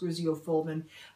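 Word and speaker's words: griseofulvin: need an oral medication i'm not positive i'm pronouncing this right but i believe it's pronounced graziofoldman i know there are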